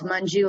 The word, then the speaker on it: Manju: again my name is manju um tamar shared how to say his name i will as well it's munju like money um should be an